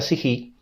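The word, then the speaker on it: ψυχή: Y en el Nuevo Testamento, en griego se pronuncia sijí y admite dos transliteraciones, su ge.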